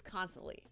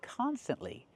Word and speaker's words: constantly: Native speakers use this constantly. That's right. She said constantly, but the word is pronounced constantly. We need a t there after the s.